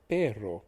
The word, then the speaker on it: perro: for dog is p-e-r-r-o in essence you're adding a length in the pronunciation of the word r so instead of pero it becomes perro so you're rolling the r just one more time it's as if there